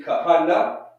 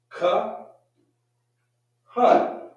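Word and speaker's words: כהן: Shouldn't it be kahana? No. At the end in the Hebrew language, we're going to drop the ah sound, and we're going to say an, right?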